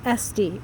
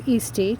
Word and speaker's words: Esty: The earliest recorded death in Huntington was that of Jeffrey Esty, or Easty, depending on how you say it.